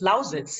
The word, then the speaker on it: Lausitz: It's Lausitz, yeah, but I wouldn't know how to pronounce it in English.